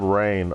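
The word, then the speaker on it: Rahne: book and they spelled rain r-a-h-n-e now anyone who has been taught proper English Fanatics knows that uh an A and an H actually make a long a sound top it off they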